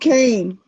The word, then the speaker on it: Keene: I still call it Keen to this day, but it's So no, really called Kane.